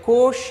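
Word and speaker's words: cosh: यहाँ पे इसको प्रोनाउंस करते हैं कोश या कॉस hyperbolic कोसाइन hyperbolic x, तो 1/2 e power x plus e power 1p x।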